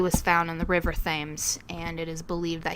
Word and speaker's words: Thames: Before we get corrected by some keyboard warrior, I would like to say that it's actually pronounced Thames.